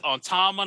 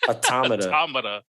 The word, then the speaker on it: Automata: no because bro like they're hard to pronounce because it's autumnal automata like nah but it's near on time andromeda no automata if you listen i